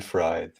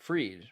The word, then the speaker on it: Fried: remember the FTX bankman fried well we pronounced it I think freed right isn't it oh that's what you're